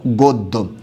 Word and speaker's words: গদ্য: হচ্ছে আপনার কি আছে গদ্য এটার উচ্চারণটা কি হবে এমন হবে গ ওকার দ ওকার গদ্য আশা করি সবাই এটুকু